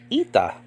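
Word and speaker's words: ήτα: sound okay a but in modern Greek this is called ITA and this this is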